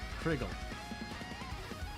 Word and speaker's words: Crygal: not Krygel. Pronounce it like Crystal, just with a G. Crystal. Kriggle.